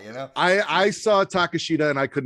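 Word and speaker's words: Takeshita: but to be fair i was calling him to takashida that's how like for years until i heard excalibur call him on a couple of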